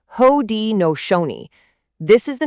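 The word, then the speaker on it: Haudenosaunee: And let's get the pronunciation right cuz it's important. It's Hodi Nooni.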